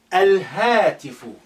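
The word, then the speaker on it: الهاتف: Al-hatifu. That's your moon letter, the ha.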